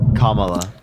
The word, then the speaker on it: Kamala: How do you pronounce your name again? Kamala or Kamala? Kamala.